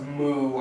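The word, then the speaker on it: MØ: Number 4 is, for me, His Hills, which is Lean On by Major Lazer and DJ Snake featuring, I believe her name is pronounced Moo, actually. M-O/O.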